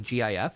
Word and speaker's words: GIF: it nobody pronounces it gif nobody pronounces it gif because that's ridiculous it's GIF it's always been gift the only reason this